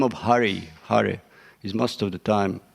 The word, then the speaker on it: Hare: Not to give you japa class, but just to point one thing to watch out is name of Hari, Hare, is most of the time mispronounced or not even there.